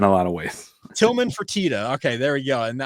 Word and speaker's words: Fertitta: Is it the Fertitta Center or Fertitta? Fertitta. He's a restaurant mogul and entertainment mogul.